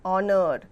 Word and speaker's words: honor: Example: an hour, an honest man, an honor. The beginning H is silent in these words.